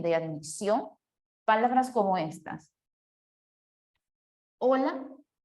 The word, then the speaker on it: hola: al momento de pronunciar, recuerden que la H es muda. Hola, hola. ¿Sonaron igual? ¿Sí o no? Olvidándose de la H, ¿suena igual? ¿Sí o no? Hola, hola. Si tiene el mismo sonido o la misma escritura,